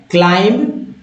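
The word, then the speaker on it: climb: है, action word है क्लाइंब, और क्लाइंब का हिंदी अर्थ है चढ़ना, क्लाइंब, क्लाइंब्ड, क्लाइंब्ड, क्लाइंब, क्लाइंब, क्लाइंब पढ़ें, क्लाइंब नहीं, क्लाइंब नहीं, क्लाइंब, सिर्फ बी साइलेंट है, ठीक है, क्लाइंब, क्लाइंब्ड,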